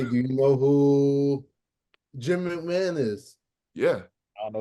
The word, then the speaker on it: McMahon: Jim McMahon? McMahon? You mean Mick Mahone? McMahon, brother. It's pronounced McMahon. Bro, that's spelled Mick Mahone. It's pronounced McMahon.